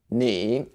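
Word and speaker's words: 你: there we go finally the last word is probably the easiest one knee and EE that's all you have to remember and that's what it sounds like knee and also you have to add a third tone so knee down and up whew so altogether this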